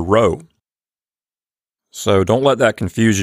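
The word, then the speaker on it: ῥῶ: people generally advise is to pronounce the letter rho like a rolled r not a heavy role but more of a light roll like you might hear in Spanish before we go Bill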